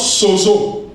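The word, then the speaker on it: σώζω: Sauvé en grec se prononce sozo.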